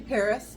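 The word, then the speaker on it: Perris: It's actually Paris, California. I was like, where are you fitting? It's Paris, California, so it's spelled P-E-R-R-I-S.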